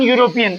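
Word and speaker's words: European: लगता या द लगता अब इसका उच्चारण देखो ये है तो स्वर वो वेल है लेकिन इसमें एन नहीं लगेगा क्योंकि इसका उच्चारण यू से हो रहा है और यू शब्द हिंदी का व्यंजन है व्यंजन में क्या लगेगा ए ध्यान से सुनिए एडवर्ड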